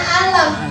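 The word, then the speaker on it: أَلَمْ: Awal Al-Baqarah dibacanya Alif Lam Mim. Awal Al-Insyirah dibacanya atau awal Al-Fil dibacanya Alam.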